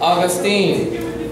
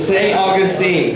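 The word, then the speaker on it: St. Augustine: 100 points got answer no it's St uh Austine St Augustine what maybe maybe I pronounce it wrong I don't no not pronounce it wrong it's St Augustine the first Spanish tlan you guys should know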